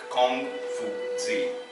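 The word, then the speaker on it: 孔子: then come from Z as his name is transliterated in Chinese so it's pronounced Kong see master Kong he was one of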